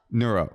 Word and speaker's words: neuro: Is it neuro? Yeah, I think that's closer. Nero. You're saying Nero like the emperor. Neuro, right?